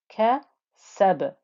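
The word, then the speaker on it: كَسَبْ: So sin joining the letter ba, and ba with a sukoon now is going to give you that bouncy qalqala noise.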